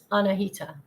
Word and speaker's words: Annahita: welcome back and and give us the correct pronunciation of your name again anahita AL righty and you know what so how